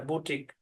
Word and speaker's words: boutique: হ্যাঁ, আধুনিক ফ্যাশন হাল, এই জিনিসকে বোঝায় বুটিক। জি, আশা করি বুঝতে পেরেছেন। তাহলে এই কথাটা মনে রাখবেন, শব্দের শেষে QUE একসাথে থাকলে UE সাইলেন্ট থাকবে, ব্যাস এতটুকুই।